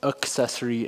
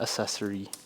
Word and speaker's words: accessory: guys over there that it's pronounced accessory and not accessory it's what happens when you